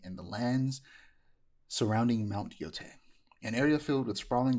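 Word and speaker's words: Yōtei: It's pronounced Yotei. See, I keep saying, I said, my first thought, I read a lot of manga, watch a lot of anime. You see an EI, it's A. It's A. Right. But because I keep hearing people mispronounce it, I started mispronouncing it.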